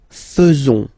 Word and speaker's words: faisons: So it's quite strange because French people tend to pronounce faisons. Okay? So like here, this AE is not pronounced like normally we should pronounce it like E, but then like E.